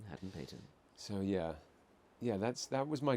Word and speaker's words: Hadden-Paton: Yeah, that's Hadden-Paton. what I tell people if they can't pronounce it. Is Yeah. ham and bacon. Ham and bacon. Hadden-Paton.